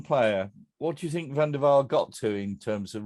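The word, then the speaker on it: Van der Wiel: Is it Van der Veil or Van der Veil? I think it's Van der Veil.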